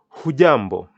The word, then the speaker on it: hujambo: greeting and its response hujambo can I hear you pronounce that fujambo and the J is jumbo how do you respond